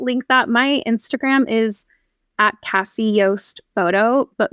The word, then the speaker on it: Casi Yost: that my Instagram is Cassie Yos photo but my name is spelled weird it's just C Ai and my last name is y s t so if you know